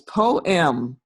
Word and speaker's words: poem: and who knows what i used to think that poem was one syllable i did um but it's not it's it's two you know two syllables poem right who knew right